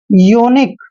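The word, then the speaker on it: unique: यूनाइटेड ध्यान रखना है यू के बाद अगर कोई कंसोनेंट आए और ठीक उसके बाद वावल आता है तो यू का उच्चारण यू ही करते हैं इसको पढ़ेंगे यूनाइटेड अब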